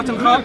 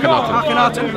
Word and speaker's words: Akhenaten: This pharaoh, Atenkhab, and so on. Akhenaten. Thank you for the pronunciation.